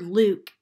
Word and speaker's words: Luke: e at the end this word Luke is one of those words where this u sounds a little bit more like ooh let's read the story